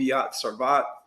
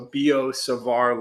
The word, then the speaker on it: Biot-Savart: sarvae or sorry savar savar because it rhymes with bizarre okay so bo and just imagine replacing that b right there with an s so bo savar law okay so the